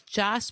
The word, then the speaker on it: Jos: His name is Josh, but I think they might pronounce it Josh, which he didn't correct me, but I was calling him Josh.